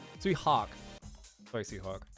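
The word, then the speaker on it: Tsui Hark: You think if you've seen any King Hu, Sui Lark, Sui Hark. Sorry, Sui Hark. Spelled your name wrong.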